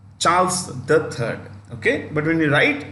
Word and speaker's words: Charles III: it is Charles three when you read the name before the Roman numeral before you read the number the should come Elizabeth the second Charles the Third okay but when you